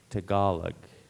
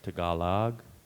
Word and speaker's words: Tagalog: Tagalog, or Tagalog, would be an alternate pronunciation.